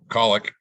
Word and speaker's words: Kalick: Actually, his name is pronounced Kalick, so I have already mispronounced his name.